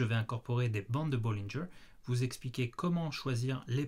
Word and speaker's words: Bollinger: consacré aux bandes de bollingers du nom de son créateur américain john dillinger donc ça se prononce bien bollingers et non bollinger comme on l'entend parfois sur les chaînes francophones ça c'est pour mon